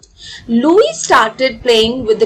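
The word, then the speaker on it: Louis: अब इसको हम लुई प्रोनाउंस करेंगे। ठीक है? लुईस नहीं प्रोनाउंस करेंगे। Okay? S is silent over here. तो ये है लुई ब्रेल।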